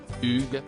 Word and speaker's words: Hugues: dernier lui a finalement recommandé de le prononcer à la française Hugues si et si parfait